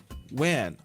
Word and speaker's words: when: importante que é o When When o h você pode não pronunciá-lo eu prefiro não pronunciar o h nos w tá é What